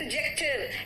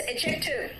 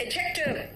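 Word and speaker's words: adjective: देखो D silent है। इट इज़ नॉट एड एडजेक्टिव। इट इज़ एडजेक्टिव। कुछ लोग एडजेक्टिव कहते हैं। That is wrong. It इज एडजेक्टिव।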